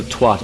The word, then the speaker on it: twat: I'm Irish, so I pronounce that as twat. Yeah. And you make sure you get that solid AT sound at the end.